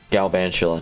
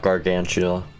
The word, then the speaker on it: Galvantula: color green that's great Galvantula not gargantula my bad little mispronunciation is good for Pokemon